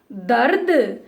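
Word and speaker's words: दर्द: Half r is there, so very fast you have to pronounce. It's become dard.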